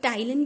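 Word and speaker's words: ptyalin: और टाइलिन भी हम इसको कहते हैं, पी साइलेंट रहता है।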